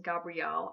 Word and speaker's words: Gabriel: This name can also be pronounced Gabriel.